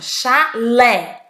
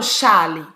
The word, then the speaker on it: chalé: olha a sílaba forte o chalé eu não falo xale né fosse charlie e eu